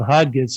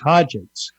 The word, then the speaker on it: Hodgetts: I've been pronouncing it as it's spelled, Hodgetts, and now you tell me it's Hodgetts.